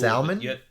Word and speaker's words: salmon: The L is silent.